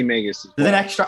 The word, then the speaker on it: Magus: Neil played a Magus, which I used to call Magus, the Pathfinder class, and he It's pronounced pronounced it Magus.